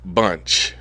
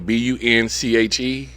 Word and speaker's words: Bunche: Ralph Bunche. Uh Well, spell the last name B U N C H E.